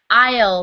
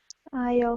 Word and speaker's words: aisle: kind of what it looks like but it's pronounced aisle seat aisle seat okay very good yeah um so and